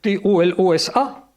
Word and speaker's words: Tolosa: voyez, c'est la clé de la prononciation et la clé du fait que même quand on écrivait T-O-L-O-S-A en latin, on devait continuer logiquement à prononcer Tolosa.